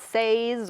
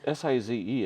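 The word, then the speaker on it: Seys: Most of it's says or something else that's not even close to size. Well, it's S-I-Z-E, isn't it? Nope, it's S-E-Y-S.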